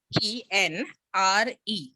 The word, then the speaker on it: genre: Mostly they say Genre is the genre, correct one. like, Genre. Yeah. Genre. Genre. Yeah, it's a French, it comes from French word.